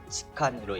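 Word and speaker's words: 痴漢: 치안의 한자를 일본어식으로 치칸으로 읽는데 일본어 발음 그대로 영문 치칸으로 세계에 점점 이름이 알려지고 있을 정도입니다.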